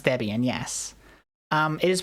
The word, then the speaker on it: Debian: That is how you pronounce Debian.